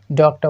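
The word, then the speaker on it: doctor: डॉक्टर है ना डॉक्टर डॉक्टर बोल इसको डॉक्टर जो आर होता है ना उसको हमारे ब्रिटिश में लगभग प्रोनाउंस ही नहीं करते तो सिंपल हमको बोलना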